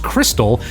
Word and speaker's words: Xtal: In Xtal, which is apparently pronounced crystal, each person is going